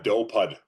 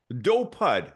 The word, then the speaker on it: Dopud: it's do yeah okay so how do you pronounce it uh dopud dopud okay there you go perfect dopud awesome